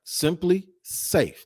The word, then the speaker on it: SimpliSafe: That's right, SimpliSafe. That's how you pronounce it.